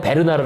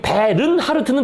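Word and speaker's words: Bernhardt: 일반적으로 말할 때 그냥 베르나르 아고 합니다 근데 불어 발음으로는 이미 끝에 를 발음하도록 그렇게 발음 규호가 돼 있더라고요 불어 발음상 그러니까 거기 베른하르트는 틀린 발음이고 그건 독일식 이고요 그건 잘못된 발음이고 베르나 그죠 이게를 바람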